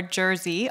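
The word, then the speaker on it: GRSI: on many many things we do not agree on how to pronounce our acronym so you might hear Greece eg RSI or Jersey all mentioned today we've agreed to disagree on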